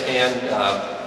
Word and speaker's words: Hann: my name is Hann and Tom got it right in his hand he's making fun of a fun put a